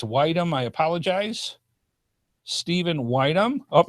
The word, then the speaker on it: Widom: If it's Widom, I apologize. Stephen Widom. Oh, he actually has it put right here. My last name is pronounced like the word wisdom, but without the S. So Widom.